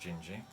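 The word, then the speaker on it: Dindi: here and we listened to the track called gingy which is spelled in d but pronounced gingy haha beam track and with some very nice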